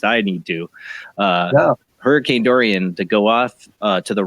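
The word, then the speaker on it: Dorian: soup tonight a hurricane Dorie Doreen Dory during I keep saying it wrong what I kiss a durian right durian hurricane durian want to get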